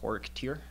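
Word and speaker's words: Xorekteer: The first one is called Horik Tir, which is generally spelled with an X.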